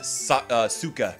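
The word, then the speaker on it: Sokka: pronounce it ong and they pronounce it sukkah oh my god because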